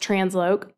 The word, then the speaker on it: TransLoc: The LOC is short for location, so it's pronounced Transloc.